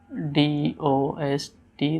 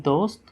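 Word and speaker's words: دوست: Okay, D-O-S-T, dost. Dal waw sin te, dost.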